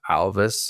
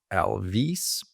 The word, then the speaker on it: Alvys: uh Alvis is pronounced Alvis a lot of people want to pronounce it as Elvis because of the why